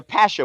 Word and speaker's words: pasha: I'm going to be a pasha with the accent on the pash.